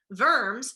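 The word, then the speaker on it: Worms: the diet of vermes remember that the W is pronounced like a V vers is a city in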